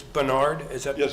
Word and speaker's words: Bernard: Bernard? It's Bernard, is that Yes, pronounced?